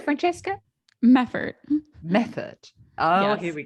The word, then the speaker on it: Meffert: Now, am I going to pronounce this right? Meffert. Is that right, Francesca? Meffert.